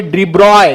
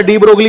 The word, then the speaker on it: de Broglie: तो इसको प्रोनाउंस करेंगे डिब्रॉय। क्या बोलेंगे बेटा? डी ब्रॉगली इसका स्पेलिंग है, लेकिन डिब्रॉय प्रोनाउंस करेंगे, नहीं तो उनकी जो आत्मा है, आत्मा को क्या हो जाएगा?